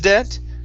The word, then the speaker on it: debt: debt instead of juice debt okay ju juice your juice debt unvoiced s you juice de okay now that be in debt is silent okay debt your juice